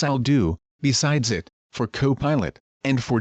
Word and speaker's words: Copilot: This is its interface as I'll do besides it for co-pilot and for Gemini. And I said I know they're pronounced co-pilot Gemini.